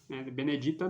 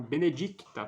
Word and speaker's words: benedicta: grácia plena dominus benedicta Benedita não benedicta tem um cezinho ali tubus benedict frutos ventres